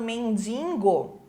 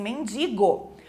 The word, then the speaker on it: mendigo: do R para largatixa mendigo que as pessoas também Colocam um n lá atrás né falando mendingo não é mendingo e sim mendigo óbvio não é óbvio